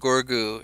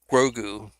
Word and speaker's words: Grogu: Ray will find Gorgu and train under. Uh, I assume somebody's gonna find Gorgu uh, before then. Grogu. That's how you pronounce it, I think.